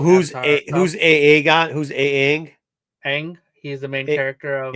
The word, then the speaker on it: Aang: His name is Ang. It's pronounced ang.